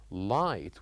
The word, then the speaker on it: light: Of course the missing letters are G and H. These are the silent letters that we write them and we don't say them.